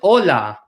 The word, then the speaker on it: hola: right I'll point out this H is silent we do not pronounce HS in Spanish so it is pronounced